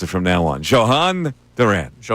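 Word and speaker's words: Jhoan Duran: So, that's the way we're gonna pronounce it from now on. Johan Duran.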